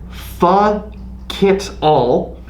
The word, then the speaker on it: Pho Kit All: This is Breaker Brewing Company's Pho Kit All. It is a... That sounds like a nasty word. Well, it is, but it's spelled like the Vietnamese dish pho, like PHO, and then Kit All.